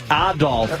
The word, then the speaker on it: Adolf: Adolf as the proper pronunciation.